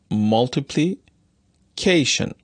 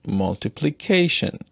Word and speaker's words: multiplication: stressed syllable for example say the word multiplication and try to tap on the stressed syllables you will find that you can tap on the first and the forced syllables multiplied on em multiplication multiplication on the first and the fourth syllables the fourth syllable seems